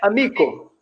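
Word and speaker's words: amiko: A língua é paroxítona. Ou seja, a sílaba forte é sempre a penúltima. Por exemplo, tem a palavra amigo. Amigo em Esperanto é amico.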